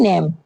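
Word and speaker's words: name: Next है नेम। नेम में भी क्या है? इ लास्ट में साइलेंट है।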